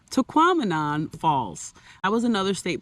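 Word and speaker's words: Tahquamenon: another cool destination was taquan rhymes with phenomenon taquon Falls that was another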